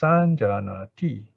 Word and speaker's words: saññāti: Then the verb, okay, the verb for saññā, perception, is saññāti, all right? Saññāti. Now here it is basically saṅ, but before the J, it becomes ña, so easier to pronounce.